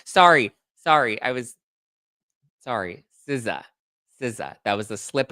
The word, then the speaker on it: SZA: I would see the SZA and I never knew that that's pronounced Siza, you know, Siza and Sza.